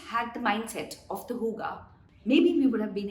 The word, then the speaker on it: hygge: start with norway they practice something called the huga spelled hygge but pronounced hygge the entire philosophy of the scandinavian country is